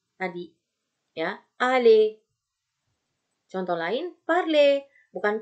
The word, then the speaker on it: parler: Contoh lain, parle, bukan parler ya, tapi parle.